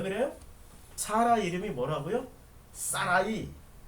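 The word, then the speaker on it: שָׂרַי: 사라이. 히브리어 발음으로 사라이.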